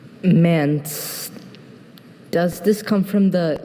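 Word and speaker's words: manse: Mance has just the one pronunciation.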